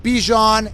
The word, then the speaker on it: Bijan: Like Dijon mustard.